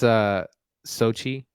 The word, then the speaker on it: Xochitl: I don't know how to pronounce her name, so I'm just going to go for it. It's Sochi.